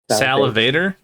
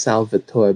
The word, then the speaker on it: Salvatore: Salivator? It's actually pronounced Salvatore, but I didn't want to embarrass him.